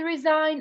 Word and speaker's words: resign: this is and this one so this is resign and this is resignation why do we pronounce the g here no one knows this